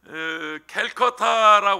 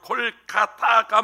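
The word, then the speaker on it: Kolkata: 캘커타라고 그러는데 지금 뭐 일반적으로 콜카타가 맞는 발음입니다.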